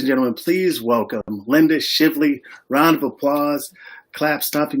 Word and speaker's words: Shively: And it's Shively, like lively.